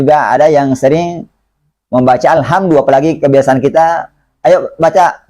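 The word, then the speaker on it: الحمد: Nah, di sini ada dal. Dalnya pengucapan Al-Quran itu lembut. Tidak kasar, juga tidak dibaca tebal. Bukan alhamdu. Ya. Jadi alhamdu.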